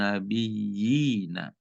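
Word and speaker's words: النبيين: Jadi bacanya wal kitabi wan nabiyina. Jadi nabiyina itu ada dua harokat. Nabiyina.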